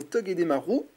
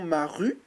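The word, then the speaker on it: Togedemaru: en reverse nous aurons tog Marou alors certains diront Maru moi je dis Marou parce que le U se prononce ou en japonais si je dis pas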